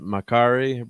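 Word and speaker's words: Makkari: Well, yeah, because if you take the pronunciation of the names, like, I'm not sure how they say it, Makari, but it's supposed to be Mercury. Makari so is like Mercury.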